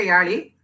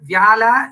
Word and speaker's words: Vyala: First, it is not a Yali. It's a wrong pronunciation of the word Vyala in Sanskrit.